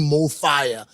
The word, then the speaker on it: MoFaya: were pronounce this word it's pronounced the same in any language in any country right and we're inspired